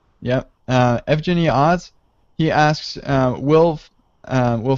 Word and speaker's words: Evgeniy: So I'm not sure if I'm pronouncing your name right, but I think it's Evgeny. Yep, Evgeny Oz.